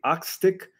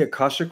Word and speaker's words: Akashic: Your question is, "How do you access the the Akastic?" I think you meant to say Akashic Records.